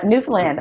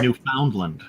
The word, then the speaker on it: Newfoundland: When I was a kid, my people I knew always called it Newfoundland. So if I was pronouncing Yeah. that must sound funny to you. That's how we know the mainlanders. Give ourselves away.